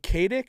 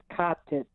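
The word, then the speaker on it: Katić: And did you pronounce it Kadic or cottage? Uh, it would be pronounced cottage.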